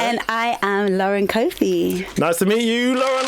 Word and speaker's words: Cofie: And I used to pronounce it as Cofie. Yeah. And then I corrected myself with Cofie. Wow. But it's Cofie. It is Cofie.